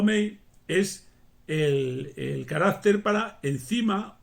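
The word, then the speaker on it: 酶: Y menos utilizado, porque ya es un término un poquitín técnico, pero conocido por todos los chinos, por supuesto, también pronunciado mei, es el carácter para enzima o para fermento o para fermentar.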